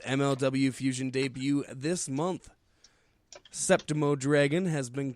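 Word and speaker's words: Séptimo Dragón: Septimo Dragon. Septimo. Yeah, you said it right. Just emphasized it. It's like a septum piercing.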